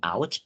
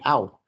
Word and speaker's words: auch: Ini bacanya bukan ouch, tapi auch.